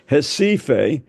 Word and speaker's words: Recife: The R is silent. Recife, which Aiko and I visited when Tim was, our youngest son, was working down there.